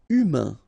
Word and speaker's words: humain: Humain. Remember, H doesn't exist, so U, then A-I-N together, un.